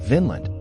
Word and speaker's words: Vinland: It should be noted that the old Norse word for meadow is pronounced Vinland with a short vowel as opposed to Vinland with a long vowel which means grape land.